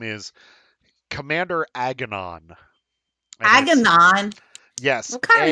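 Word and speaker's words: Aganon: when we were in voice chat um so agonon is spelled a-g-a-n-o-n and he he greets you as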